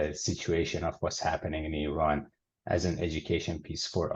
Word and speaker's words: Iran: Is Iran, like E and then run.